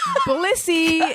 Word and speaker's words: Blissy: and that is Blissy. Uh, you're going to need to pronounce that more. I just really believe that. Blissy. It's like Bliss with an S Y on the end.